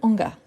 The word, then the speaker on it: hangar: Celui-ci, je vois qu'il y a beaucoup de doutes, mais c'est un H aspiré, le hangar.